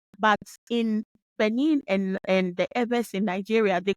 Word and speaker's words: Ewe: We have maintained the name, our name, the original pronunciation of our name, which is Ebe.